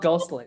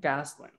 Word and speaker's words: ghastly: Not ghostly, okay? Ghastly.